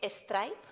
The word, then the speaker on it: Strijp: Ella me ha dicho que puedo decir Stripe, se escribe Stricht, con un guión y una S.